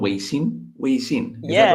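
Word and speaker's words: 微信: Weixin, is that right?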